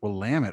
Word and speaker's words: Willamette: willamette uh willamette university well lamit oh i was not going in that direction oh they they have a saying yeah it's blam it damn it so that if that